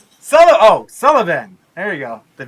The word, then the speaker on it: Sullivan: Did I pronounce that right? Sullivan.